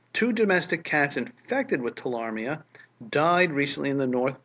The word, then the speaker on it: tularemia: Tularemia. Tularemia? Tularemia. Silent E.